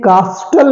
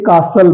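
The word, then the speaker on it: castle: देखते हैं कुछ एग्जांपल्स पहला है सी ए एस टी एल ई इसे कास्टल नहीं बोलेंगे इसे कासल बोलेंगे कासल टी इसमें साइलेंट हो गया तो ये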